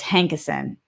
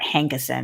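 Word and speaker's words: Hankison: i'm almost positive that it's brett hankerson not hankinson look at look up brett hankinson hankerson again it doesn't fully matter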